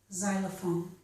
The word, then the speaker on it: xylophone: Sometimes the letter X makes only the z sound, as in the word xylophone.